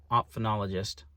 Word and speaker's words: ophthalmologist: Eye doctor looked at it, ophthalmologist, that's how you say it.